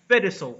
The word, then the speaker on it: Fedosov: So can you pronounce the guy's name for me properly? ANDREY Fedosov. Fedosov.